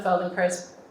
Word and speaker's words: Feldenkrais: you spell it and this is how you pronounce it and now you know more about the Felding Chris method than most people um has anyone here